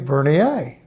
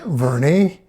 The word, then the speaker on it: Vernier: shot is it verier some say verier some say Vernie with the with an ie some say Vernier with a i a and as you'll find